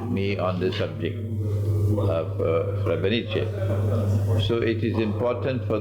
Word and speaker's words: Srebrenica: That's the correct pronunciation. Srebrenica.